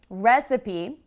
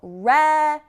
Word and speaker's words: recipe: So, recipe. Do you hear what happens on that second syllable? Recipe. Did you hear the That's what happens after a stressed syllable. We have the schwa sound, which is recipe.